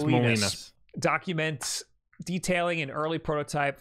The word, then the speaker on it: Molinas: It's Molinas.